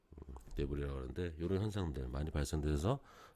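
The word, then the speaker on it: debris: 특히 강원도에서 많이 발생되는 현상 중에 하나인데 이 토성류 영어로는 이제 S는 묵음이고요. 대불이라고 합니다. 요건 묵음입니다. 대불이라고 하는데 이런 현상들 많이 발생돼서 뭐 국도 같은데 차량을 통제할 정도로 많이 흘러내리는 경우도 있고요.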